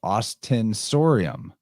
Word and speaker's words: ostensorium: this is the Austin austinorium I think is how you say it osten orium nice and that is another object within a kyborium occasionally yeah let's see there's the title ostensorium yes that's right Austin story and it's